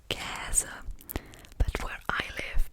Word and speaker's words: Käse: That's an So Käse is pronounced Käse, but where I live, people say Käse as if it were spelled with an E.